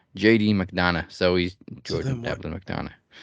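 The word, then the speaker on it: McDonagh: So it's like a silent G. It's very Irish. JD McDonough.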